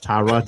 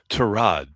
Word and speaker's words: Tyrod: they bring in and I'll probably going to mispronounce the guy's first name and I'll I'll apologize. Tyrod Taylor. Tyrod, if you please.